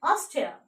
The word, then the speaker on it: Austria: Okay, the letter A, the first letter is A, but you have to pronounce it Australia, Australia, and Austria, Austria, and Australia, Australia.